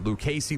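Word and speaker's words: Lukacey: Lucasey Lynn.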